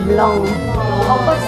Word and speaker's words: blanc: Nah kalau ada huruf N sama M itu harus nasal ya, jadi Blanc. Blanc.